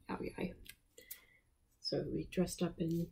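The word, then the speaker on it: Áo dài: It looks like Ao Dai, but the line through the D means that it's pronounced like a yai sound, like Ao Dai.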